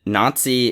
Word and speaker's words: Nazi: because a lot of people don't realize that Nazi is pronounced that way because a the Z is